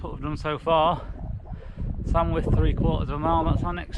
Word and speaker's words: Sandwith: I think I pronounced it Sandwith on one of the clips a few minutes back, and it's actually pronounced Sandwith.